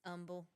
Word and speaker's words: Humble: hear someone say are you from Humble it's humble no that's like asking somebody if they from